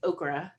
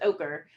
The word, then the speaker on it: ochre: I was, I was really trying not to say okra tonight instead of know i don't know ochre. The word is ochre and I always want